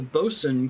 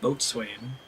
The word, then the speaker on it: boatswain: The bosun calls Kaim. I very recently learned how to pronounce that word. I don't sound like a moron saying boatswain.